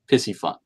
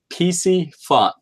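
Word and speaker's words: Piscifun: how do we pronounce pissy fun well sometimes I say it incorrectly guys I understand it's actually PC fun so it's not like taking a piss it's PC fun but it is a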